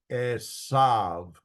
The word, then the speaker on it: Esau: It's called a Vav in modern Hebrew, and some scholars, in fact, I would say most scholars, think that the Vav was pronounced as a U or a W sound. So that's where we get Esau instead of Esav.